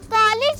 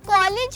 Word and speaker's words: college: पढ़ते हुए हम भी कॉलेज ही पढ़ देते हैं जबकि ये लफ्ज कॉलेज है ऑ साउंड के साथ पढ़ेंगे आ साउंड के साथ नहीं पढ़ेंगे कॉलेज नॉट कॉलेज इस